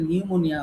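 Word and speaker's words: pneumonia: যেমন আমরা কারো যদি আমাদের বাচ্চাদের আল্লাহ হেফাজত করুন অনেকের নিউমোনিয়া হয়। এখন নিউমোনিয়া লিখতে গেলে শুরুতে তো পি দেওয়া লাগে, কিন্তু আমরা পি তো উচ্চারণ করি না।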